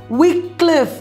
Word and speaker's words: Wycliffe: about chaucer's contemporary is john wycliffe weak cliff that is how his name was pronounced before the great vowel shift very big change happened